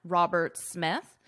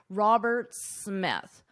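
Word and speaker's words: Roberts-Smith: So in this case, you only pronounce one S, Robert Smith. Robert Smith. If it were just Roberts, you would pronounce the S, or just Smith, of course, S. But together, Robert Smith.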